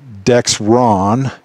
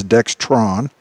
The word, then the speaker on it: Dexron: If you have a 6-speed GM automatic transmission, then it takes the Dexron, and that's spelled D-E-X-R-O-N. There's no T in there for you guys that think it's Dextron.